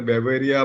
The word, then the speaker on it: Beauveria: Different people pronounce it differently, but I pronounce it a Beauveria bassiana, Verticillium lacini, and Metasorium anisopelia.